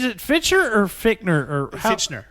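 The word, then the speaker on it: Fichtner: Is it Fitcher or Fickner or Fitchner. Fitchner.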